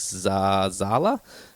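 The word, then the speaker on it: Zahler: Craig Zala.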